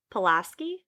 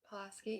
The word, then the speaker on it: Pulaski: neck interesting and then in mount polaski is that right pulaski yeah i'll be asking you